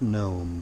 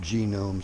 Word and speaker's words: GNOME: more rter and yes I know it's pronounced gnome but every all the damn kitties pronounce it genome so